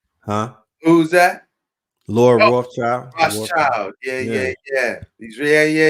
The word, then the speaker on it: Rothschild: That's where that a name always comes up in that conversation, and it's Lord, and it rhymes with Rockefeller. Clothchild, huh? Who's that? Lord Oh, Rothschild, Rothschild.